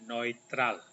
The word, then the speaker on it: neutral: Ini e di baca bagaimana e u kali lalu sudah diajarkan dibaca Oi jadi ini bacanya neitral neitral Oke jadi sekali lagi